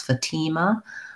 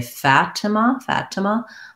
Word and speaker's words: Fatima: And then I would say Fatima, the convention would probably be second syllable stress, Fatima, but people might also say Fatima.